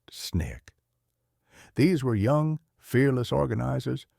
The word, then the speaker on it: SNCC: Out of that energy came the Student Nonviolent Coordinating Committee or SNCC, pronounced SNIK.